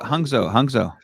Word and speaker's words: Hangzhou: Hangzhou. I really cannot pronounce it. Hangzhou.